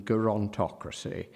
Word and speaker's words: gerontocracy: course little old man he wants the hard G as is recommended by Fowler he reviewed Fowler modern English usage he reviewed that 1926 and Fowler recommends a hard G in gerontocracy he wants the Roman